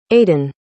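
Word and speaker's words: Aden: Suz Canal Suz Canal Suez Canal Suz Canal Aiden Aiden Aiden Aiden Aiden Aiden all right now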